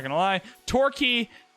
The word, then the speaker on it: Torquay: Torquay, is that how you say? I know that's how you say it, like key, but I don't know if that's... Do they call themselves Torquay? No, it's Torquay.